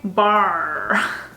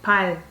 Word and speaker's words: 발: Kind of roll my tongue as if I'm pronouncing R. But we don't say bar. We say 발.